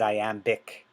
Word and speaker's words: iambic: of i am is i am bick the b is silent and i am but you do pronounce it when it's adjective so i am becomes